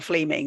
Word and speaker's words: Fleming: Actually, do you pronounce it Fleming or Fleming? Because it's spelt Fleming.